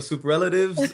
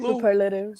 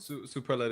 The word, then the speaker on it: superlative: You know, we didn't win the sup the super relatives, but we definitely were the class clown. We We didn't win the class clown. How do you say it? Superlative. Superlative.